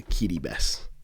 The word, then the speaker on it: Kiribati: An apostle of the Lord has sent me to Kitty Bess, Kiribati as it's spelt.